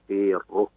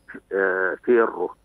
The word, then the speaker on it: فيره: يحسن ضبطه هو هكذا فيره بكسر الفاء والياء ساكنة والراء مشددة مضمومة كيف انطق مرة أخرى شيخنا؟ فيره في الره بتشديد الراء في الره بتشديد الراء المضمومة القاسم ليس في الره